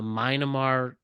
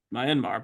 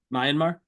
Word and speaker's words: Myanmar: I believe Taiwan uhu the myamar earthquake it's Myanmar but yeah oh sorry I apologize myar it's okay how do you pronounce it Myanmar all mmar Taiwan there